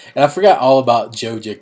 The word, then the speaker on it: Joja: And I forgot all about Joja Cola. That's how you pronounce it, right? Joja. That's what I say.